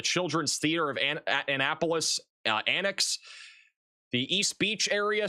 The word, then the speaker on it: Annapolis: Did I not say Annipulus right? Am I saying it wrong? How am I saying it wrong? Annapolis.